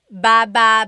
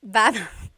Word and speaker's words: baba: Then there's baba baba. Emphasis is on the second syllable syllable. That means to go down. Baba, like going down an elevator.